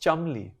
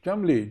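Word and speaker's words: Cholmondeley: i don't know chummy apparently it's pronounced chumley chum chumley chubby okay i wasn't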